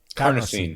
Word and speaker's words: carnosine: it has a protective how can you pronounce it carnosine yes which is in beef for